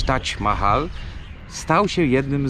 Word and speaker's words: Taj Mahal: odpowiadały i tym sposobem Taj Mahal, to nie jest prawidłowa polska wymowa, bo powinno się mówić Taj Mahal, stał się jednym z tych obiektów na tej nowej liście.